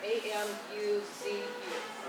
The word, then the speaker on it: Amuzu: Yeah, A-M-U-Z-U.